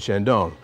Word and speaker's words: Chandon: names it's Mo and Shandon funny thing is he married a French woman so it's Mo and Shandon being the French part of the affair but